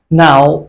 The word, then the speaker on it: know: जैसे कि पहले एग्जाम्पल में K silent है, and in psychology P is silent, in com B is silent.